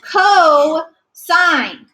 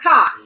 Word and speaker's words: cosine: a sin it's okay this is co-sign all right cosign not cost it's cosine all right and tangent